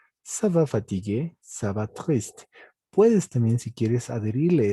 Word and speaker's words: triste: te dices je vais triste. ¿De acuerdo? Je vais triste. Esta E no se pronuncia, pero la S sí porque está a medio de una palabra.